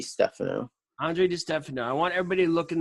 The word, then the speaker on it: Andre Di Stefano: so now pronounce your name so I don't mispronounce it yeah it's Andre D stuff Andre de Stefano I want everybody look in the links below